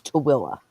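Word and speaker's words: Tooele: Uh, it's spelled T O O E L E and it's Tilla.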